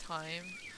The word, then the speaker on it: thyme: Okay, I just found out that thyme is pronounced time.